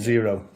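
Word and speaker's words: Xero: How do you say it? Zero. Oh, it's actually called Zero.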